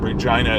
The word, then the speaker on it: Regina: But Regina uh and Regina is is the way you pronounce the the female name, but Regina is the way we pronounce this capital city in Canada.